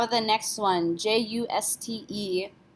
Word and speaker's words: juste: How about the next one, J-U-S-T-E? E is not a careful letter, so we do not pronounce it. Juste. End with the T, juste.